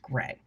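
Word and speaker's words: greige: We've had that word in textiles for a long time and it is pronounced gray.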